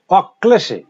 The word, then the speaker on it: অক্লেশে: যেমন অক্লেশে, অক্লেশে, দেখো মাঝে আছে অক্লেশে, দ্বিত্ব হয়েছে, অক্লেশে।